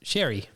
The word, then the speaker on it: Seiridh: Yeah, it's spelled Seiridh, but then next to it, they've got is pronounced sherry, and is Gaelic meaning for sherry.